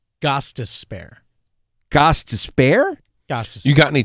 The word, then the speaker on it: Gostisbehere: Shane Gostisbehere? Gostisbehere. Gostisbehere? Gostisbehere. You got any change to spare? Gostisbehere.